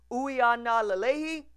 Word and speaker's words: Uiagalelei: we are not aleyhi that's a W at the beginning not a u sound and we go from